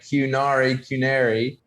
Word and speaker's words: Qnary: So, the name is spelled with a Q. So it's like Qnary, but it is like a canary, the canary bird.